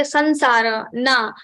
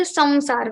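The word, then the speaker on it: संसार: Like I also belong to Uttar Pradesh, and there people say sansara, sansara, but that is also not correct. So we have to say samsara.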